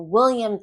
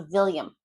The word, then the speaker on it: William: So certain words like welcome can come out as welcome, or west can come out as vest. Or wine can be pronounced as vine, or wet to vet, or William to Villiam.